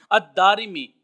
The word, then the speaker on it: الدارمی: किताब यह फरमाया है दाल के ऊपर ज़बर है और फिर अली इफेक्ट फिर उसके बाद राख के नीचे शेयर है और फिर मैम के ऊपर देर है अ देरी मी और इमाम जलन तीन